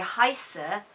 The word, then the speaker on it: heiße: So the heiße is with quite a sharp S, ich heiße.